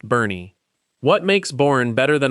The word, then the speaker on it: Boerne: Boerne, pronounced Bernie.